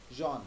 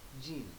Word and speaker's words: Jean: If you say Jean in French, it is actually pronounced as Jean, not Jean.